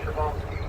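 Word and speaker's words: Przewalski: Now, it's a Russian name. It starts with the letter P, but it's pronounced Shabalsky.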